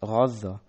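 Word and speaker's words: غزة: Arabic simply retained these two sounds completely, thus razza is still pronounced razza. Transcribed into European languages as a g, Gaza, while modern Hebrew speakers refer to the city as Azza.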